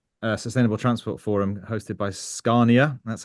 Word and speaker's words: Scania: And then I'm blessed also to be in Stockholm today at the Sustainable Transport Forum hosted by Scania. That's how you pronounce it.